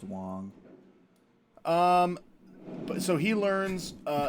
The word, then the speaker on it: Wang: it's spelled Wang but I think it's a short a so it's Wong um so he learns